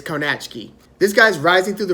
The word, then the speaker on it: Kownacki: cannot ski its belt cone a key and I think that's how I first heard it pronounced even during his fights but I believe the pronunciation is ko-nach key this guys rising through